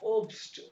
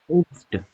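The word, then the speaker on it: Obst: ये सर, ये फ्रूट को प्रोनाउंस कीजिएगा अगेन। ओब्स्ट, ओब्स्ट, ओप्स्ट। हाँ ओब्स्ट।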